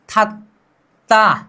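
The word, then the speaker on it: 닫다: मतलब अब इसका उच्चारण क्या होगा? थत्ता।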